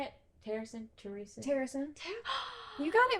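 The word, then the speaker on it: Terrasen: Terrason?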